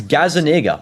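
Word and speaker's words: Gazzaniga: By the way, guys, tell us how to pronounce that cuz I I'm actually not sure on the It's Gazaniga. I'm not joking. That's the goalie's name. Okay. I just say Gazania to keep it safe.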